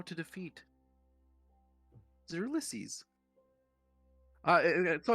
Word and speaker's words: Ulysses: key to the hells and how to defeat Ulysses. So like how you pronounce that name?